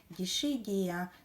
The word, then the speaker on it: Dischidia: вкорінювались тобто з алоя дехто мені робить зауваження що я неправильно вимовляю що треба казати дішидія Ну я якось так звикла дісхідія то мені якось так зручніше тож даруйте мені Для